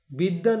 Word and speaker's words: বিদ্বান: উচ্চারণ রয়েছে আবার দেখুন বিদ্যান শব্দেও দ এ ব ফালা রয়েছে কিন্তু ব এর কোন উচ্চারণ নেই কিন্তু দ দুবার উচ্চারিত হয়েছে তাহলে দ এ ব